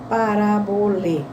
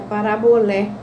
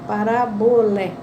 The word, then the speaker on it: parabolê: É parabolé. Por quê? Porque quando, em francês, e aqui em francês está com acento circunflexo, ou em grego aparece acento circunflexo, a gente pronuncia acento agudo. Então, é parabolé.